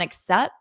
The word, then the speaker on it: except: Should I accept the Notice I don't pronounce this T on except because I have a T right there.